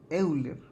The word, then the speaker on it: Euler: alemana y en alemán cuando ustedes tienen estos dos vocales pegadas la manera en cómo se pronuncia es así entonces realmente la manera de producción euler es hoy la y la r termina como ayer muchos dicen juntos pensando